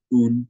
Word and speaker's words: Woong: But the way you pronounce it is like Un, like moon without the M, noon without the first N, or with a G at the end. That's an authentic way of pronouncing it in Korean.